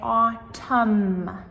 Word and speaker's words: autumn: So, both of these have the silent m. Again, we just say autumn.